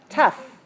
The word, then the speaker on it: tough: but another one is when you pronounce the G H sound like an F so we save tough and rough and enough